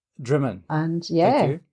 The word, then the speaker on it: Drymen: Yeah, it's pronounced Drymen. Drymen.